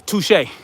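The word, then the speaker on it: touché: back in the day i'd see the word touche and i would call it touchy that's how i pronounced touche back in the day touchy i was like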